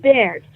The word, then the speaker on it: Beaird: And that's how it's pronounced, Baird, right? Yes, it's pronounced Baird, both ways.